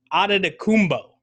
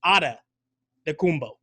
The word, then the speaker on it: Antetokounmpo: Bucks fan, Jackson, Giannis Antetokounmpo. That's what I'm saying. No, you're going a P on the end, and then actually It's not Anta at the beginning. It's Antetokounmpo.